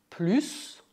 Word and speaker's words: plus: Neste caso, o S de plus é mudo porque a frase é negativa.